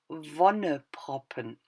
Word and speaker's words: Wonneproppen: The pronunciation is Wonneproppen.